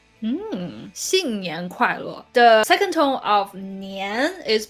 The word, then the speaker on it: 年: So always raise your tongue and start 年 with a clear N.